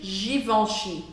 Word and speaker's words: Givenchy: Você baixa a língua e fica on, on, on, com água. Essa é a abertura de boca que você precisa fazer para você poder pronunciar corretamente Givenchy.